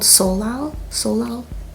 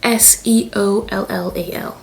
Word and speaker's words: Seollal: So it's called Solal.